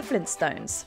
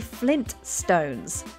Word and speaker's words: Flintstone: features their name but are you pronouncing it right Arnie quick what's my name Fred Flintstone go tour with me Barney you did it Fred you made it many people would swear there's no tea in the middle of their